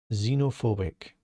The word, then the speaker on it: xenophobic: The next word, quite a big one, xenophobic. Xenophobic. The X is pronounced as a Z, and the PH is pronounced as an F.